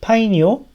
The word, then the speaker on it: PyNIO: 요 사이트에 들어가면은 그래서 요게 지금 PYNIO 그러니까 파이니오 뭐 이렇게 읽는다고 써있죠.